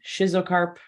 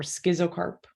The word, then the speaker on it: schizocarp: Fruit types: achene, nut, capsule, follicle, drupe, berry, and schizocarp. I hear that pronounced schizocarp or schizocarp sometimes too. I've always said schizocarp though.